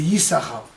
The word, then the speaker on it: Issachar: Yesh Sachar, c'est Yissachar, ça s'écrit de la même manière.